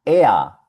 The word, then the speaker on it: er: La E con la R suena EA. Veámosla en algunas palabras. Aquí vemos el pronombre personal EA. EA es un pronombre masculino. Aquí aprendimos que sie significaba ella. Pues ea significa él.